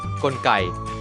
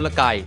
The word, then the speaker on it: กลไก: ครับ คำ ที่ 5 คำ ว่า กลไก อ่าน ได้ เพียง อย่าง เดียว คือ กลไก ถ้า ใคร อ่าน ว่า ว่า กลก ผิด นะ ครับ คำ ที่ 6 คำ